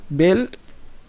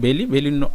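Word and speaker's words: belle: এরপরে আছে ভাউ সুন্দর পুরুষ, আর বেল অনেকে এটাকে উচ্চারণ করতে পারে বেলি, নট বেলি, বেল সুন্দরী মহিলা।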